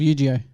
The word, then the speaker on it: Yu-Gi-Oh!: And I love Yu-Gi-Oh! Or Yu-Gi-Oh! Whatever you want to call How it. do you say it? Yu-Gi-Oh! It's Yu-Gi-Oh. I just said it wrong the first time.